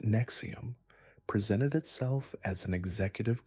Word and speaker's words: NXIVM: NISM, pronounced Nexium, presented itself as an executive coaching program promising to unlock human potential and eliminate psychological limitations.